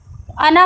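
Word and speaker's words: أنا: दें कुरान शरीफ में जब भी कहीं पे भी अना आता है तो इसका अलिफ नहीं पढ़ा ये जो इसके बाद जो अलिफ है इसको नहीं पढ़ा जाता है यानी कि उसको वो साइलेंट है अना पढ़ेंगे हरकत के साथ यानी कि ज़बर जबर पढ़ेंगे छोटा आ की तरह अना वला अना आबिदुम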